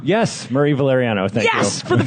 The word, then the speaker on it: Valeriano: VaLARiano? Yes, Murray VaLARiano.